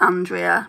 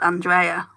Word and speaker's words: Andrea: So in the UK everyone pronounces it Andrea, but it's actually pronounced Andrea.